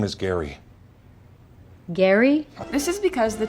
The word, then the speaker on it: Gerry: It's actually supposed to be pronounced gerrymandering with a hard G sound. My real name is Gary.